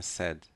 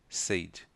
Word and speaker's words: said: Não é said, é said. Muitos aprendem a pronúncia said. Não tem essa pronúncia, é said.